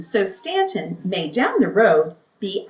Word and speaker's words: Staunton: If I used the word Staunton, I'd probably have aunts and uncles.